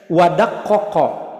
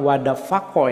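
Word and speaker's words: وَدَقَّقَ: Wadaqqaqa. Nah, ini la'ala shawab, ini bukan wadafaqo ya, tertulisnya itu saya lihat itu fa itu. La'ala shawab wadaqqaqa itu. Karena di dalam ilmu bahasa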